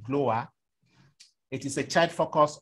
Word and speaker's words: GLOWA: welfare association um we it is abbreviated and we pronounce it glower it is a child